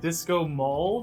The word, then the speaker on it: Disco Maul: But number 2, it's called Disco Maul, which rhymes with Disco Ball.